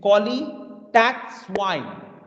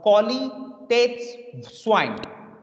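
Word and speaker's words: Qualitätswein: as a qualitative swine i repeat again cauli tax wine it's not wine it's called cauli that's swine cauli that's swine like swine we all know that same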